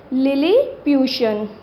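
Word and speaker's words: Lilliputian: यानी इसकी प्रोनाउंसिएशन पहले तो आपने क्लियर करनी है, इसकी प्रोनाउंसिएशन क्या है? लिलीप्यूशन।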